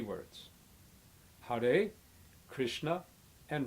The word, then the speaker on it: Krishna: Krishna means the supremely attractive nature of the divine, including beauty and knowledge and wisdom and strength. It is pronounced with a short I, meaning like this: Krishna.